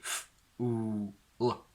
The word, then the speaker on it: fool: We don't just say f, oo, l, but together it becomes fool, fool, fool, where the dark L basically sort of muffles the oo a little bit.